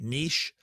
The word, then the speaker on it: niche: transforms the the the niche i guess it's drawn sending me emails saying you know say it correctly niche um the hero transforming